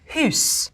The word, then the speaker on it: house: The word for house would be pronounced huis.